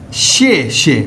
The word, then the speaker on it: 谢谢: देखना है यह देखें यह जो टोन है ना ये इसके ऊपर आएगी शे श वो न्यूट्रल हो जाएगा वहां पर हम टोन नहीं लगाएंगे और इसको प्रोनाउंस कैसे करेंगे शे शे अब दूसरे बंदे ने